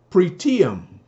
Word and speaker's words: pretium: uh it means uh pre pretium proteum that's it that's how to pronounce it pretty i'm spelled